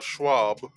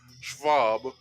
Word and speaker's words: Schwab: this fella right here klaus uh schwab or schwa schwab that's how you say it in in germany because he's he's a german so klaus martin schwab